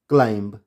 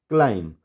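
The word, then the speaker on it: climb: लेकिन हमें रूल पता है कि अगर एम के बाद बी होगा, वो वर्ड की स्टार्टिंग में हो, बीच में हो या लास्ट में कहीं भी हो, तो वहाँ पर हम बी को प्रोनाउंस नहीं करेंगे। तो इसकी जो सही प्रोनाउंसिएशन है वो क्या होगी? बॉम्ब। बी क्या हो गया? साइलेंट। कॉम, थम, क्लाइम।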